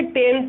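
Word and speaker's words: Thames: बोलते टेम्स है लेकिन स्पेलिंग इसकी ये होती है।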